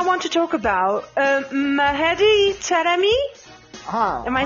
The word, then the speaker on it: Taremi: Because I want to talk about Mahedi Taremi.